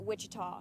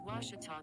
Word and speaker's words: Ouachita: ouachita sports digital network back in texas everybody pronounces it wichita but really it's ouachita washington washington how would you pronounce it it's washita baptist university get it right it's watertall people it's wachata it's washita people that's what i always